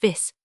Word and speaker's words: vifs: consonant of the singular, as in vifs pronounced vis, but in late modern French many of them disappear vifs with f sounded, as in the singular